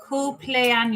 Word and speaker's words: cumpleaños: It's the M and the sound. In case you're wondering, that's an AMPL.